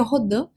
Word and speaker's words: Rodin: Mark Rodin, ou Rodin, como queira pronunciar, o certo seria Rodin, mas vou falar então